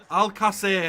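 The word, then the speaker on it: Alcácer: And I really want Paco Alcacer to go here.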